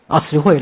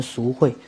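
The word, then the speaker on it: 慈慧: 对，你叫什么名字？慈慧啦，慈慧，我想念成淑慧。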